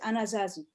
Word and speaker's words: Anasazi: do you pronounce it anasazi well in french we say an assassin in english it's it's anazazy okay okay okay sounds